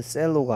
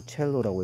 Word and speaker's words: cello: 얘는 셀로가 아니고 첼로라고 읽어야 되고요.